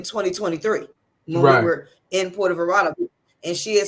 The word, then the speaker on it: Puerto Vallarta: Puerto Vallarta. That's how you pronounce it. Puerto Vallarta.